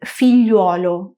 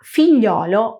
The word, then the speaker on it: figliolo: Por este motivo, actualmente no es muy común oír filluolo o figliuola y se prefiere la forma figliolo o figliola.